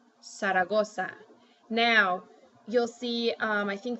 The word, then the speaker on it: Zaragoza: start with an s so like you wouldn't say Zaragoza you would say saragosa now you'll see I